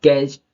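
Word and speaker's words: catch: यहां T silent है अब कैच टच ना पढ़ के हम कैच पढ़ेंगे क्योंकि यहां पे टी साइलेंट है कैच ओके अब बैच द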